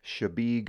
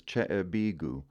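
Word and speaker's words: Chebeague: located in the Portland Harbor and it is pronounced shabig Island I've heard this butchered sundry ways but my favorite is chebigu over on the other side of the state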